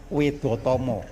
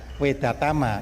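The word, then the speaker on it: Wedhatama: Orang Jawa tentu membacanya bilang wedotomo. Ah, jadi bukan wedatama itu bahasa Indonesia ya.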